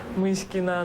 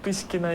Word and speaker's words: Myskina: Myskina, not Piskina, you know, whatever.